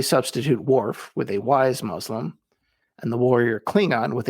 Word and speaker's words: Muslim: If you want to pronounce Muslim as it appears in the Arabic, it should be Muslim. It should start with the sound of moose, not muzzle.